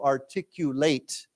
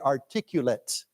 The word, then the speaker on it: articulate: your ideas to me and we pronounce it as to articulate okay but as au we say he is very articulate you hear the difference articulate okay it's similar